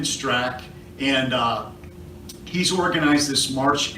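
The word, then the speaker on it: Straka: The A is silent, so Brandon Strack, and he's organized this march and rally in Washington, D.C.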